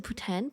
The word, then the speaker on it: poutine: it right it is poutine it's just that when the the the apparently the way you're supposed to say it is is Putin a poten is a putan Putin oh God it's one